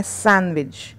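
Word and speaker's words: sandwich: हमें इसको बोलना है सैंडविच दी का उच्चारण हमें यहां पे नहीं करना है दी यहां पे साइलेंट रहेगा दी साइलेंट रहेगा यहां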